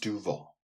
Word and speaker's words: Duval: i'm no longer calling no longer calling jacksonville duval anymore because it just isn't cool in mormon i just want to say it's pronounced duval it's not pronounced the way they say it